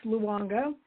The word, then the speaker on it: Luongo: It's Luongo. You say all the vowels.